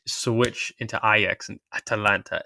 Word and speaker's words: Atalanta: And I can't wait for all the people who are going to say, George, it's Atalanta, not Atlanta.